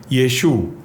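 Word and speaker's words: ישוע: അല്ലെങ്കിൽ മലയാളത്തിലെ ആ അല്ല ആ ഐൻ എന്ന് പറയുന്നത് ഒരു ഗട്ടറൽ അക്ഷരമാണ് അതിന്റെ ഉച്ചാരണം നമ്മുടെ തൊണ്ടയുടെ പുറകിലാണ് ഉണ്ടാക്കുന്നത് അപ്പോൾ അതിനെ ഉച്ചരിക്കുന്നത് തന്നെ യശു അതായത് തൊണ്ടയുടെ പുറകിൽ ആ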